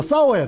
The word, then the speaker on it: 싸워야: 안 있었습니다 싸웠 싸웠습니다 경상도 발음이 이거 싸 발음이 잘 안 되게 사 되고 그러는데 싸우면 안 되고 싸워야 됩니다 여러분 갈라디아서 1장 7절 시작